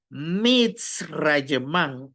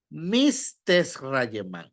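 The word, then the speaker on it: מצרים: es así se pronuncia por eso es que decimos Gracias efectivamente mit rayem y no m rayem por eso es que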